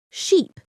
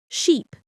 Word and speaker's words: sheep: Ship versus sheep. Listen carefully. Ship, sheep. The difference is in the vowel sound. Ship has a short I sound, while sheep has a long E sound.